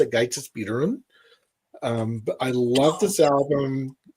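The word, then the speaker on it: Ágætis byrjun: I believe it's pronounced Gaitis Bírun.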